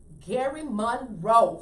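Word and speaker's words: Gerry Monroe: And our guest today is, how you pronounce it, GERRY or Gary? Gary MOONRE. Gary Monroe.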